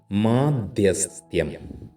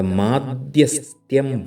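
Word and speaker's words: മാധ്യസ്ഥ്യം: അവഗണിക്കുക മറ്റൊരു പ്രധാനപ്പെട്ട വാക്കാണ് മാധ്യസ്ഥയം പുരോഹിതൻ തൻറെ മാധ്യസ്ഥയം വഴി ഈ വാക്ക് മാത്രമേ ശരിയായിട്ടുള്ളൂ എന്ന് ഓർക്കുക അതിന് പലരും മധ്യസ്ഥം മാധ്യസ്ഥം എന്നൊക്കെ പറയാറുണ്ട് അതെല്ലാം തെറ്റാണ് മാധ്യസ്ഥം എന്നാണ് കറക്റ്റ് ആയിട്ട് പറയേണ്ടത് പ്രാഭവം പ്രഭാവം പ്രഭവം മൂന്നു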